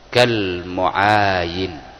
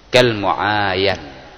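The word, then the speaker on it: كالمعاين: kal muayanah, atau redaksinya laisal mukhbaru kal muayin, kal muayan, ya, bacanya kal muayan.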